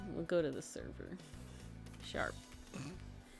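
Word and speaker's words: Charp: Harangon, blame, and his name is Sharp. Yeah, Soup, it is your fault. It's from a while ago. But this is Sharp, and he's great. He came out great. He's looking sharp. His name is spelled C-H-A-R-P.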